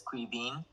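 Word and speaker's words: Caoimhín: Um, Okay, and yeah, so the Irish version, so the English version would be Kevin, but the Irish version is Kaovin.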